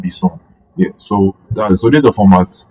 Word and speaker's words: BSON: That's binary JavaScript object notation, like BJSON. Yeah, that's why it's pronounced BSON.